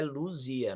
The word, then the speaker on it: Luzia: nome do disco é Luzia não é Lucia só que Claro em espanhol o z se pronuncia S Lucia se pronuncia C